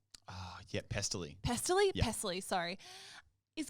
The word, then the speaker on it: Pestily: Okay, so then I'm on Twitch a week ago, and this guy, Pentily, is that how you say his name? Yeah, Pestily.